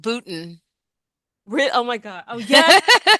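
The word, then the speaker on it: Boonton: always see a train like Boontown. Like, what the hell does that mean? Like, I Oh, know, I know. Go that's ahead. pronounced Booton.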